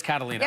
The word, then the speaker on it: Catalina: this one Catalina cat oh it is Catalina okay it's Catalina with a K there yeah like the Catalina wine mix that's right there we go